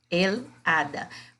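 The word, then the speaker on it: hada: Porque aqui o H, que é o AT, ele não é pronunciado, ele é suprimido. O que sai é o som da vogal A.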